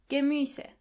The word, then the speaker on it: Gemüse: Die Gemüse. Try to practice the pronunciation of this word a couple of times to make sure you are pronouncing the umlaut correctly. Die Gemüse.